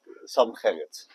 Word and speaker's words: Sam Gerrit: But Sam Gerrit. Sam? Yeah. In Dutch, we say Sam Sam? and then Gerrit. Sam Gerrit.